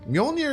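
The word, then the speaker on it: Mjölnir: about I say my own here mjolnir is right right here to me like millionaire you know black one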